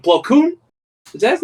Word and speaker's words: Plo Koon: Plo Koon? Is that his name right? Did I say his name right? Yeah, Plo Koon.